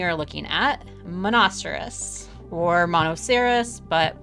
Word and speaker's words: Monoceros: looking at monasteris or monoceros but we're going to pronounce it monasterous tonight just like rhinoceros but with an m-o-n sound at the beginning um and monocerous is